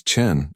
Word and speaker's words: Chen: "It's Chen, actually," Lily said softly, trying to help. "Like Chen with an N sound." Mrs. Patterson looked up this time, her eyebrows raised. "That's what I said, Chen."